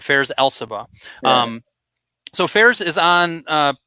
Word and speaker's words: Elsabbagh: Elsabbagh. So you can say the GH is silent. So Elsabbagh? Yeah. All right, Fares Elsabbagh.